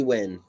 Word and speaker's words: Nguyen: It's like B Win. She pronounces it Win.